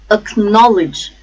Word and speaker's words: acknowledge: syllable chief achievement achievement acknowledge acknowledge stresses again on second syllable norm acknowledge actively activate the stresses